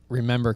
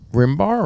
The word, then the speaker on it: RMBR: real memories better rituals so is it pronounced rimar or is it pronounced pronounced remember it says on the side remember okay okay and this